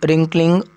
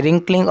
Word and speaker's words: wrinkling: On the public writing table, he started to write much with wrinkling of WRI। यहाँ पे W नहीं pronounce करते, wrinkling of his brow means eyebrow।